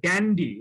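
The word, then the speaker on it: dandy: এগুলো অনুকরণ করতে বলে ডান্ডি শব্দটা তাদেরকে অ্যাড্রেস করার জন্য এটা ইংরেজি উচ্চারণ। এটা আসলে ড্যান্ডি বলে, হোয়াইট ড্যান্ডি, হয়তো আমাদের দেশে বাংলাদেশে এটা খানিকটা অপভ্রংশ হয়ে ড্যান্ডি হয়ে গেছে, কিন্তু মূল শব্দটা ড্যান্ডি।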